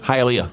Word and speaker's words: Hialeah: Hialeah.